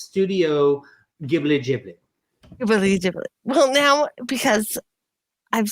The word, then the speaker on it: Ghibli: So Ghibli is fine because it's American. It's supposed to be technically Ghibli. Ghibli is the Italian pronunciation, which is where Miyazaki originally got it from. And then, yes, Ghibli for the Japanese because they don't have L's in Japan.